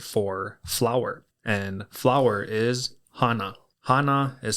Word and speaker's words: hana: And flower is hana. Hana is spelled h a n a.